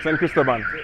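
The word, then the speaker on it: San Cristóbal: Cristobal, I think is the name, how you say it. ¿Cómo se llama esta ciudad? La ciudad de aquí. Cristobal, San Cristobal.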